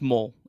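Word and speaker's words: Moll: pretty sure it's Maul it's mole m-o-l-e is how it's pronounced I know that one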